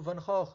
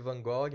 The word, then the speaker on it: Van Gogh: influenciar a obra do Van Gogh, né? A gente chama de Van Gogh, mas em Dutch se pronuncia Van Gogh.